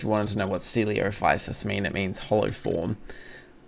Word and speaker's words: Coelophysis: I'm pretty sure it's Coelophysis. Yeah, it would be, because celiac disease is spelled the same. And I'm doing that in human bio right now. Yeah, it is Coelophysis.